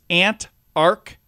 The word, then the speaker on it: Antarctica: It's Antarctica.